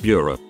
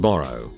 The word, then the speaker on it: burgh: Borough or burgh as in Edinburgh is pronounced bureau, not borough.